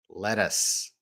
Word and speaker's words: lettuce: Letters, lettuce. Sounds like let us.